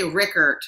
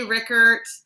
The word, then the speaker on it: Rueckert: So actually, I think you're probably really close to the German pronunciation, but we actually say Rueckert, which has the vowel of that I sound is not even in there.